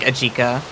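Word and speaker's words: Ejika: He's literally just eda. I love his name is Eda. He's like an ed edgy Erica. Um, bro, I think it's supposed to be like Aika to be fair, but like I just call I like calling him Aika.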